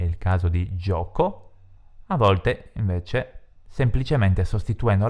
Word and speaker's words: gio: Il plurale di barca, che ha la terminazione CA, è barche con la H, mentre gioco è un nome maschile, GIO, perché si legge Gio.